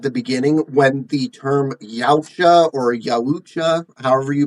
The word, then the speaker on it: Yautja: can say it, but I pronounce it like, I just stubbed my toe on something. Yaucha.